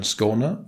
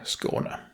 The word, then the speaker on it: Skåne: The first part of the name is pronounced as the SCO in score, and the NE part is basically like you would say nepotism.